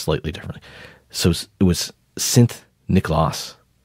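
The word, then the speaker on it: Sint Nicolaas: in Dutch was pronounced was well written differently pronounced slightly differently so it was synth nichlas s i n t n c o l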